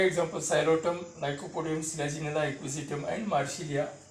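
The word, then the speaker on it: Psilotum: First one is, here also P is silent, P-S-I-L-O-T, xylotum.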